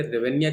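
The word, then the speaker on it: hryvnia: Ukraine की राजधानी जो कीव है और यहां पे रेवेन्या चलते हैं। एच इसमें साइलेंट होता है। रेवेनिया कहते हैं इसको।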